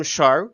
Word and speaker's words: Scharrer: Sam Scharrer, rhymes with star, is a professional vibe caster and creative consultant to the magical, mystical kind.